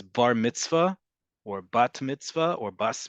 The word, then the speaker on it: bar mitzvah: Bar mitzvah or bat mitzvah, again, we've talked about emphasis in Ashkenazi Hebrew versus modern Hebrew. What would be bar or bar mitzvah or bat mitzvah among native English speakers, and especially in North America.